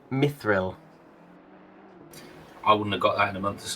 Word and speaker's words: mithril: Rather than saying it as one word, mithril, they sort of broke it into two parts and called it my thrill.